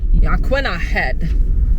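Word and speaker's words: Yaquina Head: just got corrected that the proper way to pronounce it is aquina head aqu head we actually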